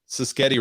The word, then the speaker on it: Sischetti: Ryan Sischetti rhymes with spaghetti said, I need an all black room.